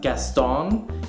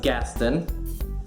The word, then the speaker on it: Gaston: the street that looks like it should be pronounced Gaston is actually pronounced Gaston and the street uh Lafayette which is after